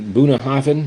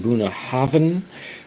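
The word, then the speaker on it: Bunnahabhain: single M Scotch whiskey buah Haven that's how you pronounce it buah Haven 12 buah havan 12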